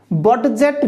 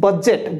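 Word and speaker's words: budget: थरे एटे देखो okay B यू डी जी ई आकु कोन पडा जिवो बजेट बडजेट नुह बडजेट नुह बजेट बजेट रो अर्थ तुमे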